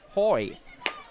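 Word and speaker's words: Hoey: he's tell told me his name is pronounced Hoy pitch is low counts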